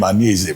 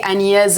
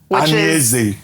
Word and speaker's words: Anyeze: He said I don't pronounce the name Aneze very well. That Aneze means heaven, but that what I say is something else. What's the correct pronunciation? Well, my full name is actually Anyeze Chukwu. Anyeze Chukwu.